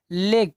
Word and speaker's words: league: में हमने क्या पढ़ा, अगर लास्ट में GUE आता है तो यू हमारा हो जाता है क्या साइलेंट।